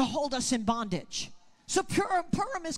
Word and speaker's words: Purim: In that very critical time between Purim, I'm sorry, I have to train myself to say it different. It's pronounced Purim. Purim and Passover, which is 1 month and one day.